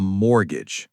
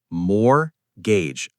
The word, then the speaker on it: mortgage: A mortgage. Silent T. More. Gage.